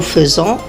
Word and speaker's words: faisons: Je fais S, tu fais S, il fait T, nous faisons. Donc le AI, je le prononce E, nous faisons, vous faites, ils font, elles font.